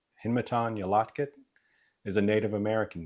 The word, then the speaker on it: Hinmaton Yalatkit: To help you out, it's pronounced Hin Yolotkit. My first and middle name, Hinmatan Yolotkit, is a Native American name, meaning rolling thunder from the water into the mountains.